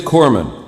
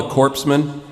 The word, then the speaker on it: corpsman: it it it is corman you don't pronounce the s yeah i mean it's not very good for a guy delivering first aid to be called a corpseman like if i'm laying